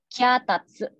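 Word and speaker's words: きゃたつ: Itu bahasa Jepangnya kyatatsu. Kyatatsu. Kyatatsu. Jadi ada huruf. Ya, kyatatsu. Ada huruf ki dengan ya kecil yang bacanya kya, dan huruf ta dan se. Jadi bacanya jadi kyatatsu.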